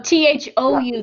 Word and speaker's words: thou: Oh, THOU. That word is, we pronounce it thou.